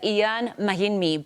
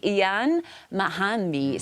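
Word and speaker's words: Mahinmi: Uh he just corrected me now on the correct traditional pronunciation of his name. We all know him as Ian Mahini, but it's actually Ian Mahani.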